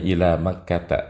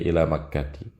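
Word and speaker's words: إلى مكةَ: Makanya ila Makkata, tidak ila Makkati.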